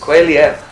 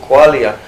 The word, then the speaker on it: qualia: And so Qualia is Qualia, I think is the correct pronunciation. Qualia is the experience of the redness of red.